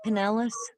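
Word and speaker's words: Pinellas: cat transformers blowing in Penllis County. I hope I said that right. Did I say that name correctly? Penelis. Good.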